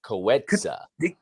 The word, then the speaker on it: Coetzee: So you have I've to kind looked of spell it Nick phonetically. Coetzee.